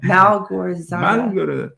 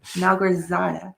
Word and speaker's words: Malgorzata: I always say her name wrong. Malgorzata. Malgorzata.